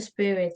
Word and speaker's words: Spirit: For God gives the Spirit. Spirit. Spirit. 스프. Sp. 스프. Sp. 된소리 발음해주세요. S 다음에 프. 스프.